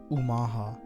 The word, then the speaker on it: Omaha: the Omaha pronounced Omaha meaning Upstream are located alongside the Missouri River